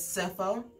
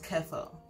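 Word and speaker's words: cephalo-: this way and also in the us they pronounce this prefix as cepho and in the uk they pronounce the same prefix as kefo so for instance the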